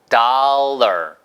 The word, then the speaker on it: dollar: 이게 달러 아니고요. 해보세요. doll. 그러니까 우리가 뭔가를 달라고 달라고 할 때 그 달라 있죠. 달라. 아니면 달라이 라마 할 때 그 달라. 그거랑 발음이 똑같아요. 일단 따라해보세요. 달러까지 똑같은데 거기다가 R만 붙여보세요. dollar, dollar, dollar. 그렇게 발음하시면 되겠어요. 그래서 dollar, ler처럼 발음하시면 되겠습니다.